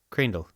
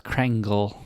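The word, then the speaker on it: Kreindel: that's why it's Java Crandall you are right k-r-e-i-n-d-e-l Crandall yeah I thought it was krangle all right have you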